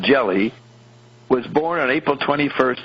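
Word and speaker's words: Gelli: book called god's banker mr jelly pronounced jelly was born on april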